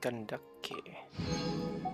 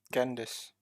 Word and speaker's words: Kandake: I believe that's how you pronounce her name, Kandake. It's not Candace. Candace is the English name. The real name is supposed to be Kandake.